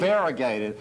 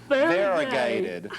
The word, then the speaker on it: variegated: Variegated. Listen, I don't care how many syllables it has. Let's teach this audience a new word. Variegated. Variegate. It's like Watergate or Yes, or irrigate.